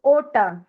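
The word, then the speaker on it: ಓಟ: सी ओ one test ओ ओटा इट्स नॉट ऊ okay it's ओटा आई विल शो यू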